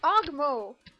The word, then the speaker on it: Ogmo: I'm still trying to do ogmo okay it's ogmo your mom and that's how you spell it hold on it's painful and that's how